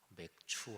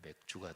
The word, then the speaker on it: 맥추: 맥추 할 때는 발음을 잘 해야 돼요. 아니면 맥주가 되니까.